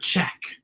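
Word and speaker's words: Czech: czar a secretly part check wait whoa if you look at that line it says check and check is spelled with c z what i don't understand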